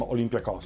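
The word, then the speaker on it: Olympiacos: I guess I'm channeling my inner Derek Ray and calling them Olympiakos.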